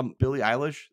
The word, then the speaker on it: Billie Eilish: I saw Billie Eilish. That's how you say it.